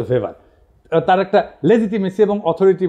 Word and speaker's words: ভেভার: এটা ওয়েভার বলে অনেকে। এটা উচ্চারণ আসলে ভেভার।